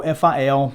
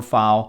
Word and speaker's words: File: for saya and then feel fil or file is the native coin for file coin i've heard it pronounced both ways cya coin is sitting